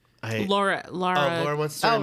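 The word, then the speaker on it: Lara: It's pronounced Laura, not Laura.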